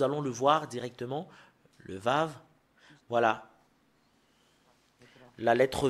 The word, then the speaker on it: ו: le voir directement le vave voilà la lettre V voilà la lettre V c'est vave ou c'est V qu'on le prononce c'est vraiment très très